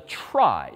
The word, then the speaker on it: trie: That's where this last structure comes in, which is called a try, T-R-I-E, short for retrieval, even though it's pronounced the opposite.